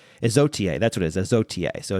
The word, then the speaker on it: Isautier: Izotier, that's what it is, Izotier. So it's Isautier. Many thanks to Rum Revival for the proper pronunciation of Izotier.